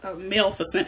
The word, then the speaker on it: Maleficent: And I just learned how to say it because Maleficent.